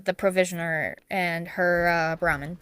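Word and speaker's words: Brahmin: And I believe I added Burman troughs to that house because they were for the the provisioner and her uh Brahman. So I said it wrong the first time.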